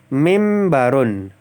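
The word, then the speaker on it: مِنْبَرٌ: terlebih dahulu mimbarun nah ini bacanya langsung mim saja karena nunnya masuk ke huruf ba menjadi mim ya mimbarun dukankanun qoatun ustazun ustazatun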